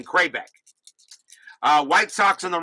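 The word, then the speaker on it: Kravec: white sox and texas i was pronouncing kravitz it should be super supposed to be cray back so now i know how to pronounce ken kraybeck uh white socks on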